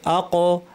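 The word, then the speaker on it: ق: আমার সাথে বলুন আক আক আ কফের উচ্চারণ ক্ষেত্রে খেয়াল রাখতে হবে যে কফের উচ্চারণটা ভারী। অর্থাৎ আওয়াজটাকে আমরা উপরের দিকে ঠেলে দিব। ক ভারী আওয়াজ হবে। সেই সাথে এর আওয়াজটা বন্ধ থাকে। জারি থাকে না।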